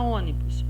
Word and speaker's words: ônibus: proparoxítona a palavra ônibus o ônibus é o primeiro passo é separar nesse segundo passo nome a última penúltima antepenúltima sílaba terceiro passo é verificar se tem acento e o circunflexo ou sinal do tio no caso de ônibus tem um sinal circumflex então a sílaba que está recebendo aqui o sinal é a antepenúltima sílaba então ela vai ser proparoxítona muito bem agora vamos